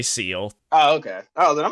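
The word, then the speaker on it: Seele: uh ceo uh their their name is like ciele well it's spelled seed but if they if they always they just say seal in the anime what the heck were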